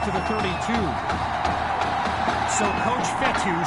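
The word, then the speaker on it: Fetu: so coach fethu spelled f-e-t-u for the longest time i was pronouncing it coach feda like feta cheese so let's just say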